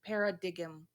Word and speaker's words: paradigm: Paradigm. Paradigm? Okay. Paradigm. I couldn't figure it out. Paradigm? How do you say that? Paradigm. Oh wow. Oh my god. I'm so sorry. No, it has a G in it, doesn't it?